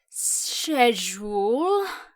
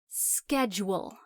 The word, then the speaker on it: schedule: It's not pronounced schedule. Like you've been drinking all night and you're slurring your words. It's schedule.